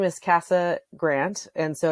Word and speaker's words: Cassa: well my name is cassa Grant and so it's it's a weird name it's after a road in Wyoming so it's spelled c AA it's like House in Spanish with two s's so they can find